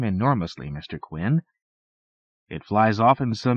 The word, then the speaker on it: Quinn: H rhymes with grin. Not to speak of kin.